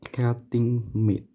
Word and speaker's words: cutting mat: Bacanya cutting meat. Ya. Seperti itu, cutting meat. Tulisannya cutting mate.